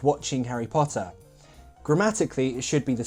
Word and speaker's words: Potter: a bit too long It sounded like Porter Should be Potter Potter very short sound otherwise, very good!